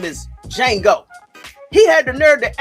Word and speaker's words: Django: He spelled out his name and he said that the D is silent.